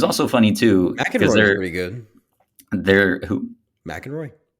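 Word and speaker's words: McEnroe: funny too there who mck androy Mack androe Mack androe that's how you say it yeah there's a few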